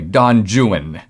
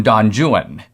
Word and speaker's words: Don Juan: wrote a work called don juan but in byron's day it was actually pronounced literally don juan and in fact the